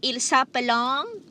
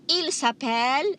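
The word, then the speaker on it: ils s'appellent: look this very closely the ent at the end is always silent so you don't say il sup along elsa belong you say il sapel el sapel okay i'm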